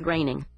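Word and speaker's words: Groening: It's pronounced graining.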